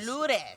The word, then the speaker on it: Lourdes: Ludez? Oh, Ludez. No R? That's how you say it. R silent. In what? In Spanish. R? It could be. Ludez. It'll be Lourdes.